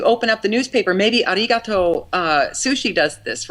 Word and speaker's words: arigato: I can't just say arigatos, How is it again? Arigato? Right, I have to say arigato. Arigato gozaimasu. I have to say it right.